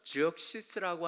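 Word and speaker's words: Xerxes: 그래서 우리는 크세르크세스라고도 하고 영어로 하면 그 x가 지역시스라고 하는 발음이 나오는 그 왕이 바로 여기에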